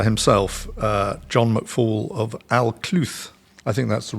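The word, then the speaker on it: Alcluith: the Lord speaker himself uh John McFall of aluth I think that's the right way of pronouncing it John is it Al cluth yeah well so I got it right first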